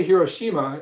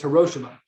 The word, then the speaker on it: Hiroshima: to pronounce hiroshima because we say hiroshima in english but he said the correct way to say it in japanese is hiroshima think about that for